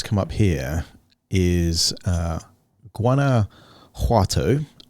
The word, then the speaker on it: Guanajuato: up here is uh guana juato if i'm pronouncing the j right in spanish guanajuato in mexico let's